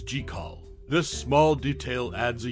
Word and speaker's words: Jekyll: Hyde stands out as the only version where jaal's name is pronounced correctly as jall this small detail adds